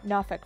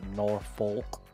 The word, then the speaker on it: Norfolk: We are in coastal Virginia, in Norfolk, Virginia. I'm glad you pronounced that correctly. Not Norfolk. Yeah, we're not in Massachusetts. So anyway, yeah, what have we done in our couple months off?